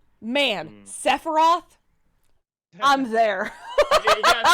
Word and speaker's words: Sephiroth: Like, man, Sephiroth, I'm there. You gotta say it right. Sephiroth!